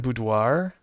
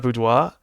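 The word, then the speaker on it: boudoir: You should really pronounce the bud the R in budoir. Budoir. Is it budoir or budois? I'm saying it like it's a French word. It's not budois.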